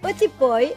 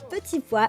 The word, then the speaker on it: petit pois: poivre, sal, du sel, petit poy, et oui, petit pois, les Cubains le prononcent comme ça, petit poy, et j'adore comme ils le prononcent, du colorante, alors, du colorant alimentaire que je ramène d'Espagne.